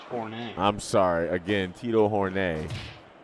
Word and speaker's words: Horne: Sorry, it's pronounced Horne.